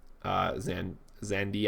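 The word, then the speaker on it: Xande: So Emperor Zandi, I believe is how you pronounce his name, from Final Fantasy XIV.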